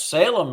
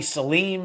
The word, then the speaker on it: Salem: Did I pronounce it You correct? corrected, yes, Salem, yes. I've had people call me Salim and Salem and yeah, yes.